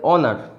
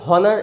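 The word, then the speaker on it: honour: কীরকম যদি বলি, এটার উচ্চারণ হচ্ছে অনার, উচ্চারণ হচ্ছে অনার, এর আগে কিন্তু অ্যান বসবে, কারণ কি এর উচ্চারণটা অ দিয়ে শুরু হচ্ছে। যতই এইচ থাকুক না কেন, এইচটা অ এর উচ্চারণ নিচ্ছে, হয়ের উচ্চারণ নিচ্ছে না। এটা উচ্চারণ কখনই হনার এটা হবে না।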